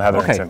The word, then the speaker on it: Heatherington: Heatherington, Dillon Heatherington.